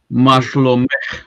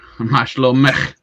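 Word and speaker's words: מה שלומך: Mashlomech is how are you? Mashlomech.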